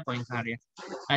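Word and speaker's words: Poincaré: dengar matematikawan Henry poincare tulisannya poincare ya Tapi bacanya points are a jadi gini ketika sistem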